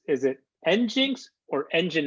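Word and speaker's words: nginx: survey is how do we pronounce is it engins or engine x i I don't have a I'm not a web guy I don't know pronoun Jupiter it's engine engine X okay there we go see we're learning something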